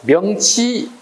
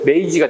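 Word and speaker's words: 明治: 이걸 우리 일본식 발음으로 되면 메이지가 되는 거고, 우리 한자로는 명치가 되죠.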